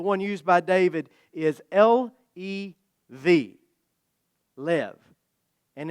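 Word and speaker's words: לב: The Hebrew word for heart, the one used by David, is L-E-V, lev. And it's pronounced a lot like a southerner describing a close encounter with a tornado.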